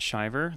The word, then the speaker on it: Shiver: is my website and it's spelled like shiver if anyone's wondering yep shiver so nobody knows why it's pronounced driver but we're gonna move